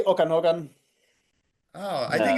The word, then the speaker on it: Okanagan: Okanagan.